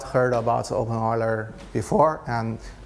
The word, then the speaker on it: openEuler: pronounced your name right but I pronounced the name open Euler wrong so I'm sorry it is open oil I have a problem with Euler the mathematician's name so uh thank you